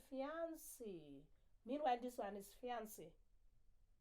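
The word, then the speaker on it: fiancée: different meanings look at words like fiance fiance and fiancee same pronunciation different spelling different meaning so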